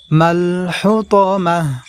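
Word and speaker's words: الحطمة: হুতামাহ ওয়া মা আদরাকা মাল হুতামাহ। প্রিয় দর্শক, এখানে আমরা মা এই জায়গা আমরা টেনে পড়ব এইভাবে, ওয়া মা আদরাকা এই র এই জায়গা আমরা টেনে পড়ব, মাল হুতামাহ মাল হুতামা।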